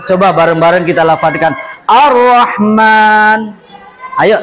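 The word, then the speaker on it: الرحمن: kanahman gitu kan Iya Berhubung ada lam yang sukun lam mati yang bertemu dengan RO di mana RO itu adalah salah satu daripada huruf Syamsiah maka bacanya harus dile lebur seolah-olah Alif lamnya Hil hilang hilang Coba bareng-bareng kita lafazkan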